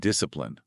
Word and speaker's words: discipline: And discipline, with the stress on the first syllable.